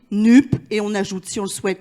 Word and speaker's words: NUPES: français donc très basiquement on le prononce comme ça s'écrit nuque et on ajoute si